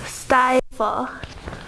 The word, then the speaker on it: stifle: Okay, so stifle. Stifle. Let's start with Austin. There are 2 syllables, and the first syllable has the accent.